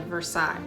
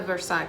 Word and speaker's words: Versailles: Not the palace part, the Versailles part. But of course, it's Kentucky, so they don't pronounce it correctly as the French word that it is, which I'll admit has